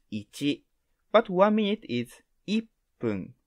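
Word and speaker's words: 一分: number one is ichi but one minute is iphone not ichifun as you can see how to pronounce one is different and how to say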